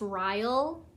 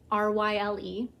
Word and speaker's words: Ryle: His name, I believe, is pronounced Ryle, R-Y-L-E. So I think it's Ryle.